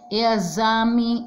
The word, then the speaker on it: exame: inscrever-se com o x o x com som de z né com som de Zé exame executar exemplo êxito exageram então gente por